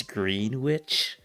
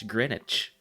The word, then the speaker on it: Greenwich: thing uh uh I know that's how it pronounced right people would say like it's green witch and I'm like no man no it's not green witch it's Greenwich along with like all the other like place